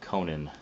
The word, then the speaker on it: Conan: of Conan the Cimmerian, or Conan, I think is the proper pronunciation, according to Mr. Howard himself.